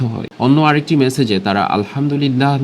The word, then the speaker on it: আলহামদুলিল্লাহ: শব্দগুলো আরবি হওয়ার ফলে এ সকল হিন্দুত্ববাদীরা সঠিক উচ্চারণটিও সঠিকভাবে করতে ব্যর্থ হয়। অন্য আরেকটি মেসেজে তারা আলহামদুলিল্লাহ না বলে আলদুদুমিল্লাহ।